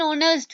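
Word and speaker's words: honest: होता है जैसे हम देख लेते हैं इन ऑनेस्ट प्लेयर यहां पर साइलेंट है और साउंड किया और जस प्लेयर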